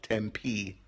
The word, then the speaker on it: Tempe: going as far as Tempe which is how it's pronounced emphasis on the second syllable Tempe Arizona and uh Jay